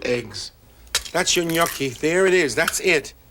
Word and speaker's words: gnocchi: we're going to make gnocchi gnocchi is spelled GN o c CH I I'm a very good